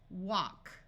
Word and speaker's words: walk: we have water want this L will be silent walk sh says sh wash